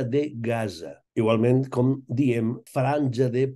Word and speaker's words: Gaza: I, naturalment, Gaza, la Z sempre, ja ho sabeu, sempre en valencià és sonora. Per tant, hem de dir Franja de Gaza.